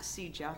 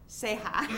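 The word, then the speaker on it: Ceja: As Oscar, it's not CJA, it's our grant. How do you say? Seha, right? We have CJA grants and it's Seha spelled the same way.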